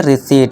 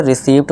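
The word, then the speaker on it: receipt: इसे क्या पढ़ेंगे, रिसीट। यहाँ मेरे कई दोस्त क्या पढ़ते हैं, इसे रिसीप्ट पढ़ते हैं।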